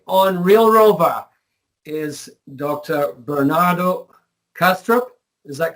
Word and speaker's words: Bernardo Kastrup: Bernardo Kastrup is that correctly pronounced um that's correct yeah Bernardo has a